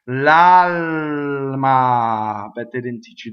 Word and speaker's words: l'alma: L'alma. What happens to that second L? It doubles, right? Touches a consonant. L'alma.